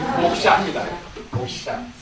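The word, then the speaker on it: mokṣa: 발음 잘하세요. 목사 아닙니다. 목샤입니다.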